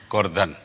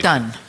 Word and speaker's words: Gordhan: What did your father say the surname was? Gordhan. Thank you. Okay, I feel better now. That's the Gujarati pronunciation. Gordhan. Yeah, but it's all anglicized now, you see.